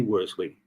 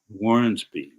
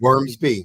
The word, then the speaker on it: Wormsby: any further ado, Sydney Wormley, our next speaker. Good afternoon, Phil. How are you? Outstanding. To you? Can't be better. I want to pronounce and make a correction. Wormsby, correct? Wormsby. Right.